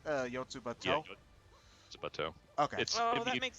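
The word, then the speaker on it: Yotsuba&!: That's what the and sign's supposed to pronounce. Yotsubato.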